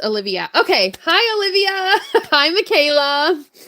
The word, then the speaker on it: Olivia: Pronounced Olivia.